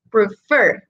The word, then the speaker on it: prefer: al final del verbo, prefer, por ejemplo, prefer. Si yo lo divido en sílabas, prefer, lo más fuerte está al final.